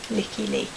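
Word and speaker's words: Lykke Li: I'm not even going to attempt it, but she's really good, and it's spelled LYKKE and then LI, Licky Lee.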